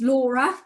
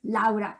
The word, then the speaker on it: Laura: japanese our name now my name in english is laura but in italian is laura so normally i would